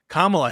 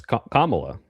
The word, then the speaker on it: Kamala: Kamala Harris. I mean, oh my God, that's I know the K is hard. So that's you even said it wrong. It's Kamala.